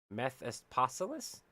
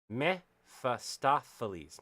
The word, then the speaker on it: Mephistopheles: impressive brawl against the worst of I can pronounce this name in my head. Mephistopheles. Mephistoapothe.